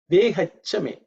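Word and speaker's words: वेहच्च मे: The next word, mantra is Vehachame. Vehachame. Vehachame. It's rather simple in terms of pronunciation. It's Vehat plus cha becomes Vehacha.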